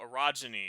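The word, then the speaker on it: orogeny: Just to be clear, Broken Earth has a magic system called arogyny, which is a real term, but sounds a little bit inappropriate. It's spelled O R O. Yes, it's only when you pronounce it, but it's a real geological term.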